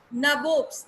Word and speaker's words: nabobs: Nabobs, नवाब को English में they supposed to pronounce it nabobs, ठीक है.